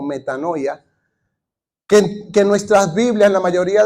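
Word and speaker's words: μετάνοια: está ahí escrita pero más o menos la pronunciación es meta no veo o metanoia que nuestras Biblias la mayoría de las versiones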